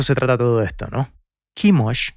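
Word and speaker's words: Quemos: trata todo esto no kimos que en inglés se escribe chemos y en español se dice kemos era el dios de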